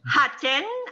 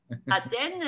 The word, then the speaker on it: Hatten: grèce génial alors bon en alsace on dit athènes avec 1h bien aspirer mais quand vous le prononcé à la française et que vous dites athènes et ben si vous le dites un francophone à il croit que vous étiez en grèce en vacances voilà alors quelques amis